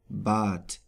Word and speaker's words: Bad: But at the end of a word, it is pronounced like a T, Bad.